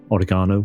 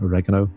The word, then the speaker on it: oregano: herbs of the area oregano or oregano depending on how you pronounce it that kind of thing